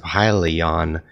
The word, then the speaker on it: Hyliion: So I was turned on to this Hyliion thing, and it's pronounced Hyliion.